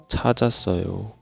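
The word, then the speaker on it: 찾았어요: So, this chieut takes over this eung place. Cha. Cha. And there is more batchim in the second syllable. So, this sang shiot replace eung. Next syllable's first consonant eung. So, cha ja sso yo.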